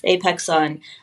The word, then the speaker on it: Apexon: I've pronounced that correctly, right? Yes, Apexon.